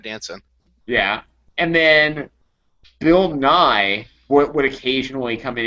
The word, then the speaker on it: Nye: Guy what other Bill NY is there yeah yeah come on for CH I didn't know if he was mispronouncing Bill nyi yeah it's Bill Bill Nye who's not the real